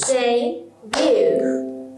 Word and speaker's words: debut: So, we say debut. Debut. So, we will pronounce day in higher scale, high scale and bu in the middle scale.